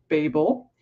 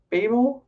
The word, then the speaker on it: Babel: So I've been calling it Babel. And apparently there are two pronunciations depending on whether you're US or UK or what. And I actually think that what I'm saying is apparently the UK version, though I feel like it sounds US.